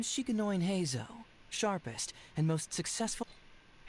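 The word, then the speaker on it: Heizou: Hazo. Well, actually, we can also confirm it here, too. Yeah, cuz we do have his voice. Yeah. The name Shikoin Hazo, sharpest and most successful. Hazo.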